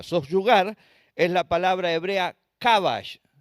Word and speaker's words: kabash: Soyugar es la palabra hebrea kabash, K-A, acento en la A, para los que me quieren seguir escribiéndolo, B larga A-S-H.